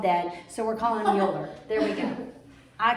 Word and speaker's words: Euler: Euler, but I've seen several high school teachers pronounce it as Euler. So I think the appropriate, who knows what his mama called him? They're all dead, so we're calling him Euler.